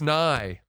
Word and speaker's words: nigh: the year is nearing it's nigh it's nine like the science guy and like how you would pronounce nye sure new year's eve